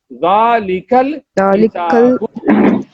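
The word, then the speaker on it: ذلك الكتاب: And the pronunciation is Zalikal Kitabu.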